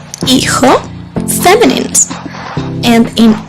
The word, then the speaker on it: hijo: Hijo. Again, the H is silent, just like in hola. Hijo. And J always sounds like ha ha ha.